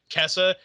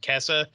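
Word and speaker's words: Käse: literal like you say that z is like a ts sound like it's kesa the a with the umlaut is a either a long a like a or a in this case it's a like kessa and then zalat with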